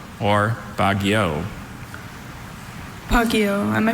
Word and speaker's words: Baguio: Bagio or Bagio?